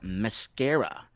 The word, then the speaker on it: Mskra: So, Brazil artist, Mascara, and it's spelled Mskra.